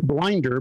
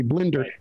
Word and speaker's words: Blinder: My phone system still calls me Mike Blinder for that sort of guy, but it's really Blinder.